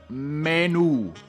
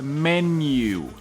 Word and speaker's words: menu: Primera palabra: menú. Menú, menú, menú, menú. Muchos latinos dicen que se pronuncia igual en inglés como en español porque se escribe igual. Menú. En inglés es menu.